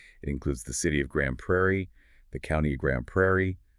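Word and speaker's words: Grande Prairie: It's Grundo Prairie, pronounced Grand Prairie.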